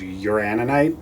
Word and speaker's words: uraninite: in this is mine for uranium because there's uraninite that's how you pronounce it in here old pitch what is